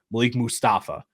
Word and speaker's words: Malik Mustafa: That's how you say his name, Malik Mustafa.